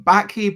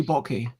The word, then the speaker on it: Backe: So, I am Bez, and this is Chris Backe. Am I pronouncing your surname correctly? That is correct. It rhymes with hockey or rocky, and if you get it wrong, don't worry.